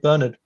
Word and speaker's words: Bernard: for integralism St Bern St Bernard or St Bernard depending on your pronunciation um he teaches very